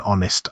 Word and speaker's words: honest: That was an honest answer. Silent H again, so the word begins with a vowel sound.